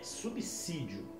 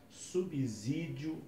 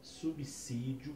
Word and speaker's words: subsídio: A expressão correta é subsídio, com som de S e não com som de Z. Então evite usar a palavra subsídio com som de Z, e sim subsídio, que é o uso correto dessa expressão.